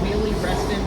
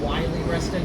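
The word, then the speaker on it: Wiehle-Reston: You know, Mildred used to mispronounce Willie Restston and she used to say Wy Rustin before they fixed it.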